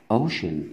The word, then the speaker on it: ocean: إذا حرف السي ينطق شين متى؟ إذا جاء بعد منه حرفين متحركين. على سبيل المثال عندنا كلمة ocean يعني محيط. يعني محيط. هنلاحظ حرف السي هنا أخذ شين.